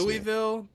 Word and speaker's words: Louisville: Louisville, All right. Duke, Louisville. You gotta say it like that, like Louisville.